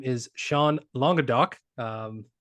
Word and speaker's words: Languedoc: with myself today um his name is Sean longa do um pronounced that correctly I believe you got it